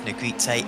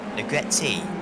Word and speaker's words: Negrete: a bit of time here is negrite again negrete did correct me after my pronunciation his name at uh